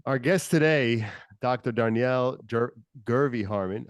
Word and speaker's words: Jervey: Guest today Dr Danielle gervy Harmon how do you say how do you say dery Danielle okay because it's spelled with a J but it's pronounced as a G right okay um CEO